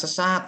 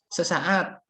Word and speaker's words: sesaat: Bukan sesat loh ya, sesaat.